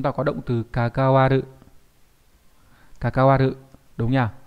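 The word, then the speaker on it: 関わる: Kakawaru, đúng nhỉ? Nó là chữ quan hoặc là chữ hệ đều đọc là như vậy hết.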